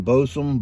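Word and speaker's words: Bosun: some balsam boston plug b-o-s-u-n bowsum balsam i believe uh 13 pipes he caught he pronounced it boston that i did take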